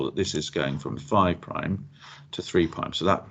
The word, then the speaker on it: prime: you saw that this is going from five prime to three pi so that that little similar is pronounced prime okay and it's the direction of